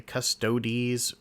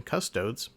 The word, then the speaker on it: Custodes: In the grand scheme of things, whether you say Custodes or the correct version, Custodes, who really cares? If the way someone pronounces something takes away your enjoyment of that thing, I think you have bigger problems.